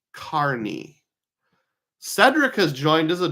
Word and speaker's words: Kearney: John says the town in Nebraska is pronounced Kearney.